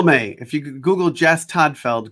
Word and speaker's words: Todtfeld: if you google jess toddfeld good luck with the silent t in the middle of my last name you'll end up on